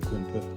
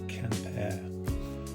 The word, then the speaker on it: Quimper: I call it Quimper. I think it's supposed to be pronounced Campair.